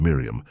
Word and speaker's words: Miriam: Miriam, pronounced Miriam I am with the final accent as is still heard